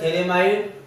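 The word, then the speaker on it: phthalimide: तो Gabriel थैलेमाइड reaction, ठीक है? हमें गैब्रियल थैलेमाइड रिएक्शन करनी है। तो बच्चों देखिए गैब्रियल थैलेमाइड रिएक्शन क्या होती है। यहाँ पर ये पी साइलेंट होता है, हिंदी में बोलते हैं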